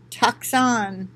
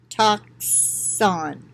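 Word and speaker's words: τόξον: prick to prick and the pronunciation of the greek word is toxon toxon toxin toxin get it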